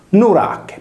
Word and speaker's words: Nurache: L'eroe eponimo della città di Nora o Nura, Norace, si chiamava in origine, ossia prima dell'apertura della U in O, Nurache, poiché la sillaba palatale finale c'è, si leggeva come la nostra velare che.